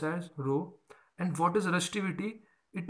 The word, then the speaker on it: rho: denoted by the symbol this and it is pronounced as rho rho it is pronounced as rho and what is resistivity it is the resistance